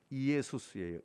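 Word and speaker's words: Ἰησοῦς: 예수님 그 발음이 어떻게 되는지 아세요? 이예수스예요. 이예수스.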